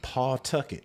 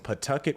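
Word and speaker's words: Pawtucket: right all the way from Paul Tucket y all the way from Paul have to work on that pronunciation pcket oh I'm sorry all the way from Pucket Rhode Island that's right we have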